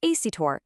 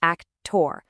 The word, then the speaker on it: actor: First, you got to stress that last syllable. So, it's not actorur, it's actur. Not kalar, but color.